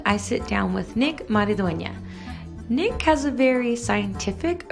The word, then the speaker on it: Mariduena: you say it uh it's pronounced mariduena maridonia so there we go